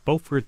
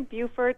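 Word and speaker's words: Beaufort: go to Maggie in bord South Carolina hi Maggie hi thank you so much for having me it's actually Buford but we're way deep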